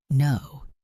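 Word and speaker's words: know: No, the K is silent.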